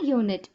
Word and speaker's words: unit: It have to be pronounced as Y O O N I T.